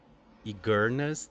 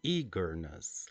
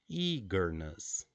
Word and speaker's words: eagerness: if your pronunciation was igus then you got wrong the the correct pronunciation is eagerness like with a long e eagerness good eagerness and psychiatric